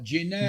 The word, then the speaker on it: Ginevra: Genevra. Oh, Ginevra.